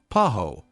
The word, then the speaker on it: paho: the miniature mango called paho, scientific name Mangifera altissima. Since the H is not pronounced in Spanish, pajos would have indeed sounded like paus if said by a Spaniard.